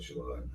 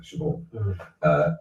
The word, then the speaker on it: Siobhan: Siobhan, I always call it Siobhan, because that's the Scottish way of pronouncing it, Siobhan.